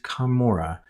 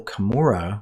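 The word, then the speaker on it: Camora: The Book of Mormon the hill kamora was first spelled c a m o r a and had the same pronunciation as McPherson's kamur as you can see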